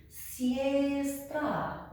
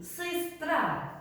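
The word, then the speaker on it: сестра: If I read it without the accent and the pronunciation rules, I would read it siestra. Because this is, siestra, but because the accent falls here, I read sistra, We will take the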